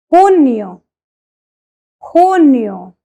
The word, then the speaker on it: June: trabajador on May 1st we celebrate Labor Day who knew remember it's not Junior it's who knew because